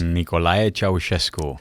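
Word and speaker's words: Nicolae Ceaușescu: Pastor Gheorghe is the 8th of 12 children born in Romania under the communist regime of George, help me pronounce this. Nicolae Ceausescu.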